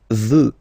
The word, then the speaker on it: veux: Vouloir, first person, je veux, final X not pronounced.